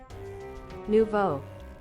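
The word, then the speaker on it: Nouveau: at Nova or Navo Neovo Nevu. Chat, we need to find out how to pronounce this. Hold on. Uh, how do I pronounce N O U V E AU? Nuvo.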